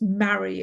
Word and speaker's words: Marie: brass band widows sweet i saw marie max's wife pronounced mary of course casting envious glances at